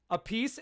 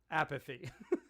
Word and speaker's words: Appice: encourage you to Gwen, I know I said apathy. Appice is his brother's pronunciation, Gwen. And you'll see in this video, we had a big discussion beforehand. Vinny likes to go by apathy.